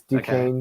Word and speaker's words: Duquesne: I always called it like Duquesne. Yeah. I knew I was going to say it wrong, but it's Duquesne. Okay. Sorry for all the Duquesne fans out there. It's spelled different than it says.